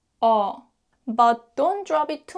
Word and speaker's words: 어: When you pronounce 어, don't put tension in your lips. Instead, put more focus on your jaw. Gently drop your jaw down like 어, 어, 어.